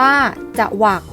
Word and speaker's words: จวัก: จรลี อ่าน ว่า จรลี จวัก จวัก อ่าน ว่า จะ วรรค จอง จอง อ่าน ว่า